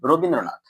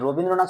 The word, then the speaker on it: রবীন্দ্রনাথ: প্রথমে যদি আমরা উচ্চারণ করি, কি উচ্চারণ করছি? র বিন দ্র নাথ।